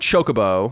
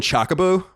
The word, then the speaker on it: chocobo: But so last week so the word chocobo, which is how it's said. Yeah, isn't it chocobo? That's how I always pronounced it. It is, but I sometimes throw in chocobo.